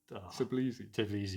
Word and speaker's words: Tbilisi: They were Dynamo how do you pronounce? Tbilisi.